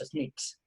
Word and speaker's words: SNCC: Los llamaban los SNCCs, se pronunciaba SNCC, SNCCs.